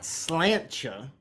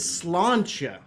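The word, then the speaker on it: sláinte: no no there was a pause a Beat not slancha I tried to make her eyes meet but the yank could only look at his feet it said as slantia but don't let your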